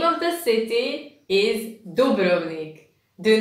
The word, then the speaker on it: Dubrovnik: And for when you come to Croatia, the name of the city is Dubrovnik. Do not pronounce it Dubrovnik or Dubrovnik or whatever else. Remember, Dubrovnik.